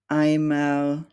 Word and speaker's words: Eimer: and an I, and this combination is always pronounced like the English letter I. We have words like Eimer, Eisen, leicht, feilen, and